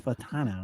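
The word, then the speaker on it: Fautanu: Fatanu. Fatanu. Fatano. Yeah. It's Fatano.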